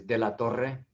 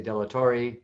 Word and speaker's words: de la Torre: you um you know you would normally roll the r's but not everybody can do that uh so i'm okay